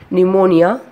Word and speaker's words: pneumonia: Here the words are pneumatic, pneumonia, etc. Here the spelling of the pneumatic is P-N-U-E-U-M-A-T-I-C. But here the P is silent, so we are pronouncing as pneumatic.